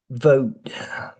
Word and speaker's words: vote: So you're binding your lip the same as for an F when you make a V, but it's also sort of like a B because you're vibrating your throat. So we can try saying VV v. And then the second part is oot. This T, your tongue is in T position. But usually we don't say oot. Usually we just say and stop. So then we're saying the vote. Vote.